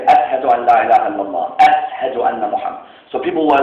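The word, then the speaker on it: أشهد: Bilal would not say, "Ashhadu an la ilaha illallah." He would say, "Ashhadu." His sheen, okay, was a seen.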